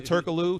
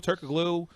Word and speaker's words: Turkoglu: was there Frank's boy Turkoglu Turkoglu we don't pronounce the G on a whole nother